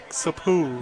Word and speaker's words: Capouch: They're pronouncing it phonetically, and yeah. It's Sapu. Yeah, it's spelled Capouch.